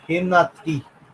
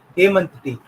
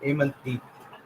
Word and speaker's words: Hemant: And after that, I had Hemnath T. Hemnath T. I mean, sorry, Hemant T. Sorry to pronounce it wrong. Hemant T.